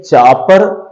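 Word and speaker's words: chopper: English में है चापा यानी र को पूरा नहीं बोलते हैं।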